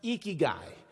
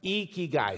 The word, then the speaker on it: Ikigai: pronounce it it's pronounced eeky guy you lift your cheeks like you're smiling it's eeky guy say it with me eky guy you got it that's